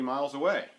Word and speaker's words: miles away: It's that phrase, miles away, that Americans put the accent on the syllable way. Everywhere else in the English-speaking world, from what I can tell, the accent is put on the word miles.